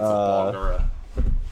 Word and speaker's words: Barlgura: more worth it to shoot the Beluga, the Bulgura, Barlgra. Okay, hey, petition to name these things something that people can actually pronounce. It's they're demons, you know. Barlgura. What's his name? I know. Anyways, It's a Barlgura.